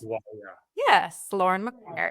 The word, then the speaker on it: McGuire: Am I pronouncing this right? McGuire. That's Lauren correct. McGuire.